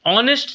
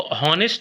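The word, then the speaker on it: honest: ऑनेस्ट जो है, इसको हॉनेस्ट नहीं बोला जाता, ऑनेस्ट बोला जाता, तो ओ से प्रोनाउंसिएशन स्टार्ट होती है।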